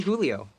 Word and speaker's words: Julio: you can call me Julio you pronounced it like the Spanish way oh yeah oops I'm